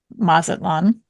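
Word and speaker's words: Mazatlán: No, I mean, I was more confident going into Mazatlan than I was this game. Congrats on pronouncing it right.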